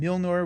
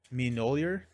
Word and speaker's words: Mjolnir: We also need to go grab Milnor, which is actually great. I've been pronouncing that wrong. Someone corrected me on YouTube. I forgot. Mjolnir? I don't know. I don't know how to pronounce it.